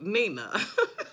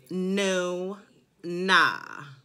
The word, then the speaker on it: Nuna: calling the Nuna wig Nina. So I had someone to actually get on there and pronunciate it for me. She was like, it's no nah.